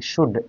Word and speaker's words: should: silent हो जाएगा और इसको एल हटाने के बाद बोलेंगे शुड एस एच ओ यू डी शुड directly शुड पड़ेंगे इसको यह सही पढ़ना है शुड का मतलब क्या